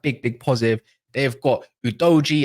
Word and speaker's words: Udogie: big positive they've got udoji as I've been told that's how you pronounce his name or you can call him udog or udogie I don't know how you want to say it's all up to you guys big up for